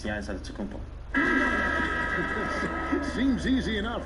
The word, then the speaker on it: Antetokounmpo: In the Greek way, you gotta say it with a D, so it's Antetokounmpo. But in the Greek way, you say with the NT, like Antetokounmpo.